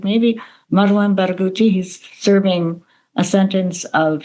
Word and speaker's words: Marwan Barghouti: You mentioned Nelson Mandela, and this fellow who, pronounce his name one more time, who is maybe the Mandela of Palestine? Yeah, Marwan Barghouti. Marwan Barghouti.